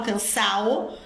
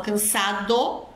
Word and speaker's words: cansado: tem essa essa pronúncia Eles não falam cansao eles falam cansado eles pronunciam a palavra toda eles não aspiram a letra D mas como ele cresceu